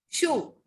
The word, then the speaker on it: chou: The pronunciation of cabbage is show. Chou.